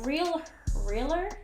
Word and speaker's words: Real Her: So this is a Realer, but it's spelled Real Her Lip Liner Duo.